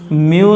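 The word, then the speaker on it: mu: है वो होती है म्यू naught upon 4 pi. This के इज वैल्यू ऑफ के इज म्यू। ये जो लेटर है इसको हम कहते हैं म्यू, एम यू म्यू।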